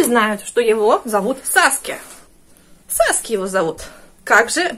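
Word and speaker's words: Sasuke: У них пишется S, значит, читают как Z.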